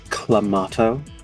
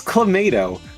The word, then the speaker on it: Clamato: my younger brothers because they were pronouncing it Clamato and I'm like nope it's Clamato because it is clam juice and tomato juice that is clemento yes